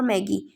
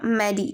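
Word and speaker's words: Maddie: और कभी कभार वो लोग यहाँ पे कौन, पैडी और मैगी, अच्छा सॉरी मैंने उसको रॉन्गली प्रोनाउंस किया, पैगी और मैडी, ठीक है, मैंने थोड़ा सा वो यस पैगी और मैडी उसका कभी कभार मजाक उड़ाते थे।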